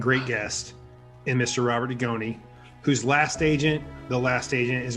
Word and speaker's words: Dugoni: First of all, it's Dugoni. Dugoni. And Dugoni. don't mispronounce it.